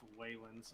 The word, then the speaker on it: Waylens: I'm glad you Congratulations, finally got the Wallens. name right. Congratulations. Deserved. Yep, Deserved. congratulations. Congrats, Waylands. Alright, Wallens. secondly, 68 to all units. It's pronounced Waylands. I'm not going to keep correcting people.